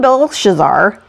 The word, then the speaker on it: Belshazzar: So it says, King Belshazzar, there I said it right that time, made